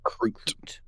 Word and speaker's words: Kroot: Kroot? Crute. So like Groot.